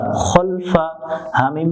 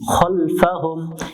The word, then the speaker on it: খলফাহুম: খলাম জবর খল, ফা জবর ফা, খলফা। হামিম পেশ হুম, খলফাহুম। এখানে অনেকজনে ভুল করে খালফাহুম, এটা খা পড়া যাবে না, খলফাহুম।